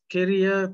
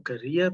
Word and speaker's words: Keria: i'm the principal at carrier primary or career primary whichever way you want to pronounce it we are situated in